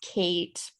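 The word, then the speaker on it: cait: derived from the gaelic words uh this says kate c-a-i-t that means cat and then she or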